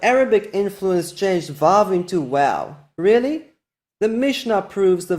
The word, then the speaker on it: Waw: Just keep in mind that no post-biblical evidence can overthrow the overwhelming evidence in the Hebrew Bible for the pronunciation wow.